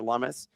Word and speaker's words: Lummis: In under 2 minutes, people, we have massive news breaking out of Senator Cynthia Lummis. For those that aren't aware, she is the person whose last name rhymes with hummus, as well as one of the most bullish crypto people in the entire Senate.